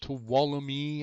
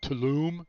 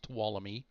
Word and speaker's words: Tuolumne: Tuolumne, that is pronounced Tuolumne. I heard somebody else on the stream call it Tulum. It's not Tulum, it's pronounced Tuolumne.